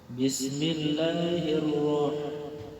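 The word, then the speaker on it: بِسْمِ اللّٰهِ الرَّحْمٰنِ الرَّحِيمِ: Bismillahirrahmanirrahim. Ro-nya punya hukum bacaan tafkhim. Dibaca tafkhim. Ro-nya berbaris fathah, berbaris di atas. Kalau baris di atas, bacanya tafkhim, tebalkan. Ro bukan ra, tapi ro.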